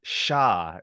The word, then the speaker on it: Sha: like it's even more confusing because the English pronunciation is Sha. It's SHA.